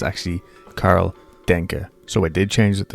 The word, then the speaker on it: Karl Denke: Hey creeps, this is Editing here, and I just realised that it's not pronounced Denke, as fun as that sounds. It's actually Karl Denke.